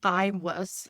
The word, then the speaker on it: Aiwass: So it's pronounced Iwas, and it's spelled AIWASS.